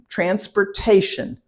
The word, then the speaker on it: transportation: got to your interview Transportation okay exactly break it down into the syllables trans poor poor this is a transport Tay shun t-i-o-n is always said shun shun shun transportation and